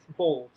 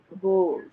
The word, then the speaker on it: bols: Bowls. B-O-L-S. Bowls.